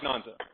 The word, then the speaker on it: Nanzi: Or Nanzi? How do you say her name? Nanzi. Not Nanzi. Nanzi. See, I hate the A-N final, because I never know if it's on or am.